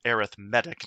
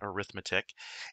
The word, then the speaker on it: arithmetic: pronounced with the accent on the the third syllable arithmetic not arithmetic and because of this being an arithmetic sequence